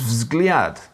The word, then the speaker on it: взгляд: Russian for that is vzgliad, which means view. V, Z, G, L, and J are like V, Z, G, L, and Y all together before you even get a shot at a vowel.